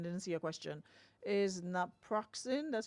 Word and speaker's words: naproxen: Is naproxen, that's how you pronounce it, better to Yes.